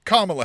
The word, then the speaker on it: Kamala: floes me because uh I've known for a long time that it's Kamala Harris and not Kamala right it's or or not Kamala right it's it's Kamala not Kamala however we grew up